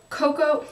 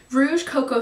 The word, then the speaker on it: Rouge Coco: favorite Beyond everything else um is the Chanel cocoa how do I say it wrong Rouge Coco shine um lipstick in the number 56 color